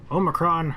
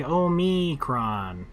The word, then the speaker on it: Omicron: okay Tom logs outgoing Omicron Herber C I guess you could say Omicron or Omicron when they're like Oh me Kron I'm like I don't I don't know about that that's the one we